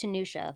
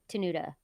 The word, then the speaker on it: Tenuta: Luke Tanisha or tenuta I think it's pronounced tunusha but it's tenuta yeah offensive tackle Virginia